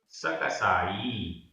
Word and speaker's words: सकसाई: सकसाई, सकसाई, यहाँ पर भी ई बड़ी है।